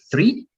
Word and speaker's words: three: nosotros, cuando hablamos español, pronunciamos lo mismo al decir tres y al decir árbol, ¿no? Porque tres es three, árbol es tree, ¿no? Tree, árbol, three, el número 3.